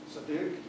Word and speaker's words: Siddique: Does Siddique? Yeah. That's the right way to pronounce it? Yes. Siddique, all right.